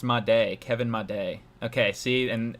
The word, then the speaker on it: Made: Oh, it's pronounced Made, Kevin Made.